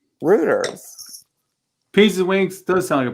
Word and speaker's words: Reuters: what i was saying i thought it was reuters it yes it rhymes with hooters rooters pieces wings they're selling